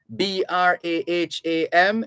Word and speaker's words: Braham: it's g-r-a-h-a-m pronounced graham b-r-a-h-a-m is braham b-i-r-m-i-n-g-h-a-m is birmingham birmingham fulham f-u-l-h-a-m fulham so the h's are silent or the h is silent in all of these these names and words so the medical officer